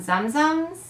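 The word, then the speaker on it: Tsum Tsum: Are they zum-zums? Zoom-zooms? We're not sure what to call them. I believe the T is silent. So for now, I'm going to call them zum-zums.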